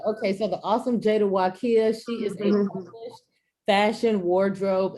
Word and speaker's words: Waqia: sure i say it correctly yes so it's pronounced wakiya wakiya wakiya okay so the awesome jada wakiya she is the fashion wardrobe and personal stylist